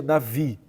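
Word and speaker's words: נביא: detalhe importante que é a palavra Hebraica se escreve na Bi com B mas segundo os estudiosos do hebraico se pronuncia Navi então Navi em hebraico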